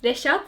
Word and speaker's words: Reşat: konnichiwa, Reshat desu. That's it? Yeah. Yeah, you're basically saying I'm Reshat. You're not Okay. saying my name is Reshat, but you're saying I'm Reshat.